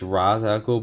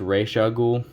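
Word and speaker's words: Ra's al Ghul: liam neeson as um how they say it's roz eckle but in the comics it's rachel ghoul which that's one thing i don't like but they did they mispronounced the name like it's not a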